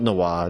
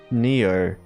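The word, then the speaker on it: Nioh: It's not Noir. No, it's it's like Neo.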